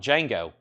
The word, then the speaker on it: Django: the backyard ex 2799 the D is silent Jango that's right why not